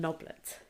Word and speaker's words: Noblett: the murder of a young lady called an noblet that's how it says it's pronounced but I'm already getting the giggles and noblet so I'm going to have to refer to